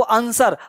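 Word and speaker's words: answer: अब W silent कहाँ कहाँ है भाई, अब देखो आंसर, अब आंसर तो नहीं कहते, आंसर बोलते हैं, तो डब्लू क्या है, साइलेंट है।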